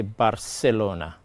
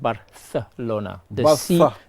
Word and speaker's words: Barcelona: and even in in in Spain you have people for them they would say Barcelona Barcelona Barcelona for others he said Barcelona the C is like the th sound so in languages you